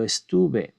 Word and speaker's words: estuve: tilde, but here yo estuve is very important because the how we pronounce the verb changes. Yo hablé is strong. Yo estuve, it is not.